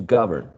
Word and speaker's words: govern: a verb right to govern and uh govern is stress in the first syllable govern and the second